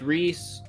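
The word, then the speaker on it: Rhys: R re Reese re the audio book says Reese it's re I think I think universally agreed upon Rees okay the audio book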